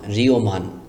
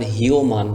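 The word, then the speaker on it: হ্রীমান: রয় রশিকার ঋ অন্তস্থীয় অঋ ও মকার মান রিওমান এখানে যদি আপনি পড়েন হিওমান তাহলে কিন্তু উচ্চারণ সঠিক হবে না লেখার সময় এভাবে লিখতে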